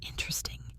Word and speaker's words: interesting: I-N-T-E-R-E-S-T-I-N-G, interesting. Now, most learners say it as inter-esting, stressing the third syllable.